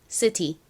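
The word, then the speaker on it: city: T가 T 소리 Y는 E 소리 나니까 연결하면 C티가 됩니다. C티. 미국식 원어 발음으로는이 T를 리을처럼 발음해서 3 이렇게 발음하기도 하는데요.이 단어의 의미가 뭔가요? 도시를 의미하는 단어이죠. 발음 연습 같이 해 볼게요. 시티. 미국식 발음으로도 해 볼까요?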